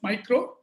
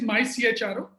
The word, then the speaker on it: MyCHRO: It's okay, many people pronounce it as micro. In fact, even for the registration, when it went, they also said micro is already registered. We cannot register it. But the real pronunciation is MyCHRO.